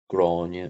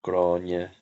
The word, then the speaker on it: Gráinne: their parents say but the difference between grania and grana is tomato tomato granite is a typical northern pronunciation the ulster irish pronunciation of the name and grana is more typical of um monster southern pronunciation same for anya and